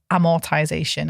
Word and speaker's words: amortization: an amortization calculator um I don't want to spell it but it's amortization I did say with the A on the beginning because you should really